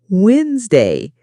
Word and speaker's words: Wednesday: For example, you might see the word Wednesday and think it's pronounced exactly as it's spelled, but listening teaches you it's actually pronounced Wednesday.